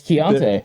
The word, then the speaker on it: Keontae: Yeah, it's Keontae. Like 9 vowels in a row.